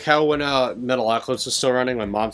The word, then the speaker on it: Metalocalypse: hard time pronouncing and they'd call it metal a lot a lot it's like they have a hard time pronouncing I'm like it's Metalocalypse Metalocalypse I guess a metal